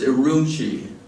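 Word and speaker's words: Ürümqi: Q is it Q Qi uh but it's pronounced aruni and um impressive flight and over impressive geography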